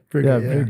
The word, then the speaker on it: Breega: Is that how it's pronounced? Yeah, Breega.